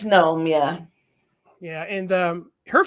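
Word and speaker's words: Noem: um so is it is it know him is that how you pronounce her name secretary governor of i don't know is there an eye on the end or not it's just in oem i believe then it's gnome yeah yeah and um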